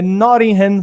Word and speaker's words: Nottingham: Mas como meu compromisso é sempre ser melhor a cada dia, eu melhorei a minha pronúncia. É Nottingham Forest.